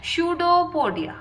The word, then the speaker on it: pseudopodia: इसका प्रोनाउंसिएशन क्या होता है? स्यूडोपोडिया।